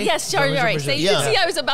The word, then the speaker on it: Jean-Michel Jarre: one of the original French, Jean-Michel, I can't pronounce his last name, a French experimental. Jean-Michel Jarre? Yes, Jarre.